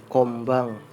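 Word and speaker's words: 今晩: Kombang artinya malam ini. Dibacanya kombang ya guys.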